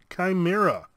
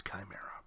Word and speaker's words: chimera: see we got a mischievous chimera or shimmer ah depending on how you want to pronounce it it's chimera you've got fracas spawn